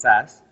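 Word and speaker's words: SaaS: three main Cloud segments software as a service pronounce SAS platform as a service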